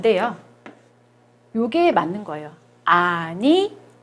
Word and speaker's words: animaux: 아니모라고 발음합니다. 아니모. 왜 그러냐면 요 X가 O로 발음이 나거든요. 그래서 아니모라고 발음을 하는 거예요.